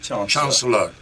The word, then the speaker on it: Chauncelor: have problems pronouncing yours chancellor did i say that right yes chancellor okay chancellor that's it chancellor uh in a quote